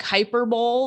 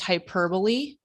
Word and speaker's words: hyperbole: it it's called hyper it looks like hyper Bowl but it's pronounced hyperbole this guy is not